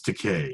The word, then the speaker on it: Takei: Does So George Takei like say, it's Takei. It rhymes with gay.